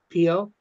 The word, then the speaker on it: Po: Uh, Bob says the biggest river here is called Po, P-O. Mm-hmm. So I think that's how you pronounce it, Well, Po.